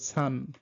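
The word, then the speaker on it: Zahn: আর জেড এটার উচ্চারণ হলো টিএস এর মতো সেট, সেট লাইক সান, সান মানে হলো আপনার দাঁত।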